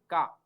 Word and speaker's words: ka: Yes, the pronunciation of K in Spanish is Ka, not Q. It is Ka.